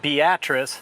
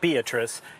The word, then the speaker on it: Beatrice: Hey, I'm in beautiful Beatrice, Nebraska. And that's pronounced Beatrice, not Beatrice. You got to get that pronunciation correct.